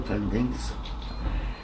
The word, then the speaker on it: poinding: But he was there near all the pindings, and we stopped around 4,500 pindings. Now a pinding is spelled Poinding. Poinding, which is known as pindings.